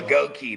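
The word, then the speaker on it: Goedeke: Goki. That's how we're supposed to pronounce Goki.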